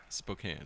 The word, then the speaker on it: Spokane: the way you pronounce Spokane, I can never understand. Spokane. Yeah, it doesn't make sense. K-A-N-E is Kane.